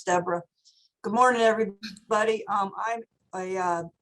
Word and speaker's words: Deborah: I know it's spelled like Deborah, but it's Deborah.